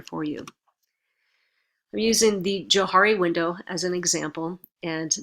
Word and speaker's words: Johari: Actually, Johari window would be the proper pronunciation for it, because it's a combination. The Johari window is a combination of their first 2 names.